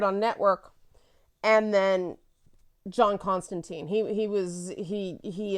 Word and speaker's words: Constantine: written um but whatever apparently that's canon but it's time like wine but uh she is